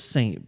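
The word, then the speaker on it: Sxxnt: remember then it's like he pronounces it saint but it's he's he's English so he he spells it weird so it's it's s x x n t as the artist and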